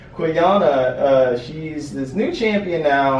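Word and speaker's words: Qiyana: I think it's pronounced like I always want to say like quinoa, but Quiyana, she's this new champion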